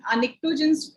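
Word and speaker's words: pnictogens: why do you name निक्टोजेंस बोल रहे हैं तो पी साइलेंट हो गई है, पी आगे है आपका, और इसको निक्टोजेंस इसलिए बोल रहे हैं क्योंकि this is highly poisonous in nature.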